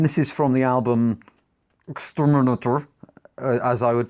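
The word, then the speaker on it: XTRMNTR: later albums and this is from the album exterminator as I would pronounce it which is of course exterminator with the vowels taking out um and this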